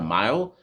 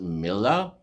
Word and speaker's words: mille: Some people say cost per mile. I think it's a Latin word which is pronounced mille, Mille, and mille means thousand in Latin.